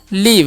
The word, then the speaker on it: live: Next बढ़ते हैं लिखा हुआ LIVE, तो एल का उच्चारण ल और आई का उच्चारण दीर्घ है हर्षी, वी का व और लास्ट वाला ई का उच्चारण नहीं होगा, तो क्या? लीव।